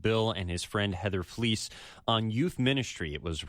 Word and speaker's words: Flies: So, it means we pronounce the E, not the I. Yeah. So, it looks like flies, but it's pronounced fleece.